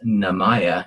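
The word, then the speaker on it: 名前: So if you guessed name as one of those words, that was just coincidence that in Japanese, the word name is pronounced namaya, and it's N-A-M-A-E, which you could have luckily got that as N-A-M-E for name.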